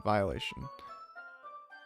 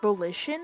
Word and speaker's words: volition: it on my own violation wait it's pronounced volition volition i was like that can't be right i thought it was violation so i knew how